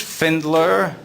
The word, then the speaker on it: Pfendler: my last name is finned ler it's spelled P f en d le r and sometimes people will say oh okay so the P is silent and I'll be like